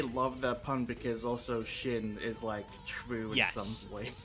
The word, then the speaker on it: Sin: In the OCG, the name of this archetype is Sin. Pronounced Shin. Shin.